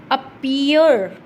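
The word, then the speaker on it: appear: फिर है अपीयर, ईयो, ईयो, last वाला जो है उसको हम ज़्यादा लंबा बोल रहे हैं।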